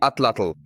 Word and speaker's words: atlatl: Perhaps the strangest of the weapons I mentioned is the atlatl. That's really how it's pronounced.